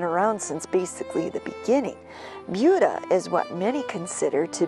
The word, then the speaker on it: Buda: town we discovered that the correct pronunciation is Buda not Buddha even though the town is named after Budapest it is pronounced located 85 miles Southwest of Rockford Illinois Buda is a small town